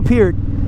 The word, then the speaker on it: Peart: I heard him pronounce his name as Peart, so don't get huffy in the comments.